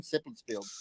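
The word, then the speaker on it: Seppeltsfield: I always pronounce it wrong. Sepulsfield. Oh, I pronounced it right.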